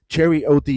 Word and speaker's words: Cherry: It's not cherry. It's not Gary. It's Cherry OD.